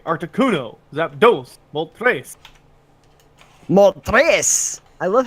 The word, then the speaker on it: Articuno: I have an Articuno and a Zapdos now. Wow. So, The way you said those names makes me want to kill you. Zapdos, Arctic Uno. Like, Yeah. seriously, 1, 2, 3, Articuno, Zapdos, Moltres.